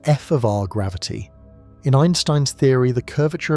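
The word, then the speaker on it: f(R) gravity: This is pronounced f of r gravity.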